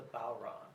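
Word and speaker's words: Bodhrán: actual name of it is the Bowron. Balron. Bowron, I guess, is the easiest way to pronounce it, which is, it's spelled Bodhran.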